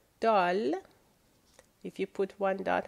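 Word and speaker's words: دال: We're going to start with the letter Dal.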